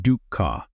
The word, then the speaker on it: dukkha: The Pali word is dukkha, pronounced dukkha, and it was not a religious word.